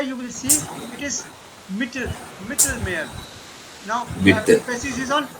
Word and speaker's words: Mittelmeer: So E is little suppressed and A is little elongated.